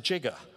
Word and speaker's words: giga: If you actually watch Back to the Future, Doc Brown pronounces it jigger.